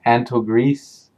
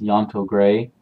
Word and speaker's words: Yantogre: the Yantogre family, and when you look at it the way it's spelled, it looks like it's Antogris, but it's actually pronounced Yantogre.